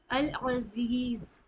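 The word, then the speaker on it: العزيز: अब जाल या जी में खींचना है क्योंकि यहां पे या मदद है अल अजीज अल अजीज ठीक है यहां पे दो तजवीद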